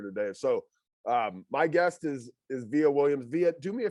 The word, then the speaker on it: Vija: It's pronounced Vija. You don't pronounce the J. J is like a Y.